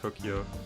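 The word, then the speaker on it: Tokio: there's a person named tokyo in the silver case yeah it's spelt um with an i instead of a y but either way yeah it's the exact same pronunciation everything tokyo uh yeah he's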